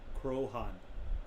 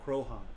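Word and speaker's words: Croaghaun: is named after it pronunciation krohn krohn okay to the occupants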